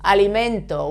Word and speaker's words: alimento: So, alimento, why do we stress the penultimate syllable? Because it ends in vowel.